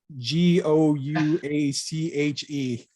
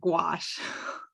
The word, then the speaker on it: gouache: you saw this on twitter how do you pronounce that word that's the g o u a c h e i'm overthinking it but i pronounce it gouache okay i i um i can't remember who